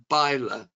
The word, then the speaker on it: Ber: Yeah, it is actually pronounced Ber in the lovely English language about 14 miles northwest of Norwich.